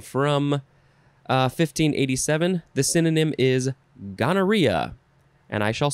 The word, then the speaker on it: gonorrhea: The synonym is gonorrhea. And I shall spell that for you.